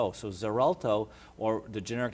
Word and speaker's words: Xarelto: called zerto it's it's it's pronounced with a z sound but it's spelled with x x a r l t so zerto or the generic name